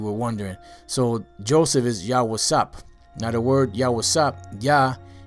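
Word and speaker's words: יוסף: in case you were wondering so Joseph is yah wasap now the word yasa yah is he and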